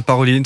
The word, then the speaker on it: Parolin: C'est le secrétaire euh d'État euh c'était enfin c'est le oui le numéro 2 du Parolin Paroline, ça dépend si vous voilà vous le prononcer avec l'accent ou non.